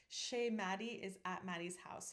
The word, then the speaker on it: chez: We would spell it S-H-A-Y instead of the French spelling, which is C-H-E-Z, because I want to make sure that nobody accidentally pronounces it ches.